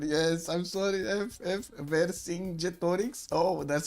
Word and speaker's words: Vercingetorix: Vercingetorix. Oh, that's how you pronounce it. Vercingetorix.